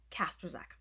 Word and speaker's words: Kasper: It's pronounced Kasper. Very simple, but you gotta practice because it doesn't always roll off the tongue easy.